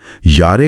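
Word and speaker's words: Jahre: इस बिन आपकी उम्र यारे आल्ट। यारे आल्ट? नहीं। यारे का उच्चारण या और आल्ट का आल्ट होता है।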